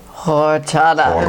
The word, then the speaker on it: horchata: Horchata.